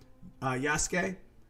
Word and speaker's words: Yasuke: Welcome to Demon School, Yasuke, and that's spelled like Yasuki, but I just say Yasuke because it's Sasuke from Naruto.